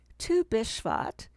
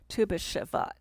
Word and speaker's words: Tu BiShvat: part of the tradition tu bishvat is a festival held on the fifteenth day of shavat on the jewish calendar some pronounce it with more emphasis on when it happens by saying tuba shavat in 2021 earlier this